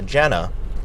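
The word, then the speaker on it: JVNA: So Jana, it's spelled, because she's a DJ, it's spelled J-V-N-A. She flipped that, you know, second A upside down like an asshole.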